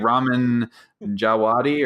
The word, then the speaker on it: Ramin Djawadi: No, his name is like Ramin Djawadi, or Djawadi, I think is how it's pronounced.